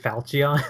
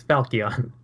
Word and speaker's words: Falchion: a bit or not that you're saying falchion the entire time it's falcion is it oh i've been pronouncing it falchion it's yeah and you're